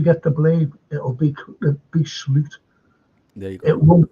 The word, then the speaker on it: Slot: I said they brought in this unknown Slot. They brought him in. That's how you pronounce his name, by the way.